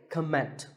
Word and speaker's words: comment: I have heard many speakers say comment. Now, whether you use this word as a noun or as a verb, the first syllable is always com.